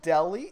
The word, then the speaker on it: Delhi: Because I don't know if you guys are dim, but the joke is that since delis make sandwiches in the city's called Delhi, it's spelt differently, but it sounds the same.